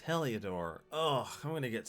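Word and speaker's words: Heliodor: back to the others i've been pronouncing it wrong it's heliadore oh i'm going to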